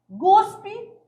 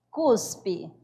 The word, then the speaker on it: cuspe: A questão da pronúncia, a pessoa vai fazer a pronúncia guspe, mas o certo é falar cuspe.